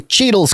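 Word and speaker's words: Cheatle: secret service yay kimberly cheadle's career with the agency spans more than 25 years including numerous cheetos rolls yeah like like don cheadle no spelling cheating it's spelled differently yeah dhs inspector general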